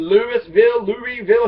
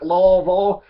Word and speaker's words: Louisville: Don't say Louisville. It's named after King Louis, okay? So don't call it Louisville. You're supposed to call it real dumb like Lawville.